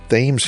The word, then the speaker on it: Thames: We're temporarily joined by US-1 to cross the Gold Star Memorial Bridge over the Thames River...and if you're British, yes, they pronounce it "Thames" here.